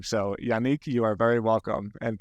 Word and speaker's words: Yannick: for noticing it's awesome now most most Americans like pronounce my name as Yanik because Nick is like very familiar name in America but yeah it's a French name so thanks for pronouncing it right my pleasure well uh